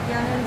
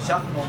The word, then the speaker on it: Jachnun: But I think I'm also gonna get a mini yanun too. And can you make like a vegan one? How do you pronounce it? Jachnun. Jachnun?